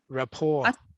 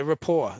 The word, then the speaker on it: rapport: r-e-p-p-o-r-t that's it report rapport i think this is the wrong words report no no rapport that's you don't pronounce the t it's rapport oh report does anyone